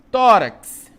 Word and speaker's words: tórax: Tórax, tórax, né? Então, terminou em X, a nossa regra diz aqui, é uma paroxítona, a antepenúltima sílaba é a mais forte, vai receber o acento, tó.